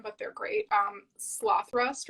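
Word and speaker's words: Slothrust: but they're great um sloth rust or slow thrust it's cloth rust yes you got it right there yes cool i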